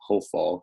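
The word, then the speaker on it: הָפְעַל: So this is one of those examples of when the comet is, this is comet's ketone, pronounced O. This is the hofal because it's a closed, unaccented syllable, hofal.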